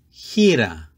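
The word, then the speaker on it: χήρα: sound made by the letter ETA it is pronounced Hira Hira this is another feminine noun and it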